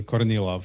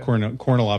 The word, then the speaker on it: Kornilov: It's pronounced in Russian Kornilov, but okay. Kornilov is fine, totally fine.